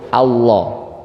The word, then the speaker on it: Allah: kayak ngucapin ar itu getarnya dihilangin jadinya pelo Allah ya jadi santai aja jangan jadi beban meskipun